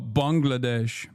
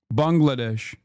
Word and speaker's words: Bangladesh: I can see that for Russia, but I doubtful that you still mispronounce Bangladesh, idiot. Do I did I say it wrong? Oh, Bangladesh. Bangladesh. In Turkey, in Turkey, we say Bengalesh.